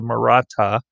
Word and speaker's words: Maratha: confederations one of the most famous was the maratha that's how you pronounce that there in the yellow the maratha confederation which was primarily a hindu uh dominant